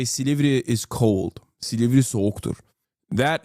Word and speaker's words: Silivri: He said it wrong. It's not Silivri. It's Silivri.